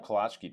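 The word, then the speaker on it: Kolacky: Home of Kalachki days.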